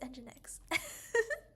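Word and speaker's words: nginx: and engine engine X I just called it Eng Jinx live didn't I oh my goodness I it's engine X so we also said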